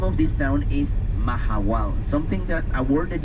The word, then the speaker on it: Mahahual: The name of this town is Mahahual. Something that, a word that you may have never heard before. Let me spell it for you. M-A-H-A-H-U-A-L.